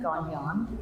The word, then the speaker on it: Gagnon: Hi, I'm Gagnon. It's Gone and Gnon. That's how you pronounce it.